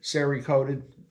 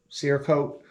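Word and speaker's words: Cerakote: are going to be Siri coated I think I should pronounce it Siri coat seir coat uh which is a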